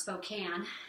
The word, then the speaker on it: Spokane: live we actually live in Spokane it's brad pronounced spokane and he loves baseball and so he got